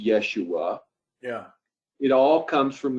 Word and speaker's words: Yeshua: and of course Jesus' name was really Joshua, or as maybe properly pronounced Yeshua.